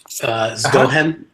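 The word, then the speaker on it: zgjohem: First of all, it's pronounced Zgohem.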